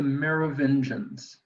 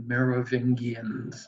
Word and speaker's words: Merovingians: da vinci code uh tom hanks mispronounces this twice he calls them the merovingians and it's not the mayor of indians it's the mayor of engines but nobody asks me